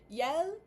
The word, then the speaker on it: iel: 6 or so months, I typically do hear the masculine pronoun pronounced as il and the inclusive variant pronounced as yel, or yel.